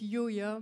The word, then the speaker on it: YOYA: Et effectivement, je le prononce YOYA parce qu'en anglais, le AW, souvent, se prononce OR.